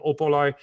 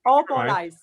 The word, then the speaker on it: Opolais: up for it on Kristine's own website, Kristine Opolais at what was it, probably .com, or?